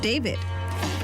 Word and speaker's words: D4VD: Earlier this month, a body was found in a Tesla registered to rising star D4VD, pronounced David, in an impound lot in Los Angeles.